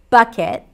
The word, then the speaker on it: bucket: A big blue bucket. Bucket. That's a cup sound. Bucket. And the second part could either be a schwa, bucket, or bucket, I as in sit. That's how I pronounce it.